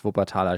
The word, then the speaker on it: Wuppertal: or suspension Railway um actually in German it's vatala Shan um it's quite iconic